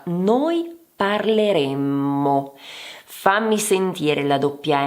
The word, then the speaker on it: parleremmo: Innanzitutto, attenzione alla doppia M nella prima persona plurale.